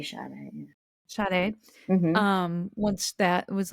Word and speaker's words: Sade: With an S, but you say Sade.